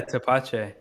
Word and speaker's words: tepache: only, or No, you do a lot of experimental batches, like the tapache. Am I saying it right? Tapache, yeah, tepache.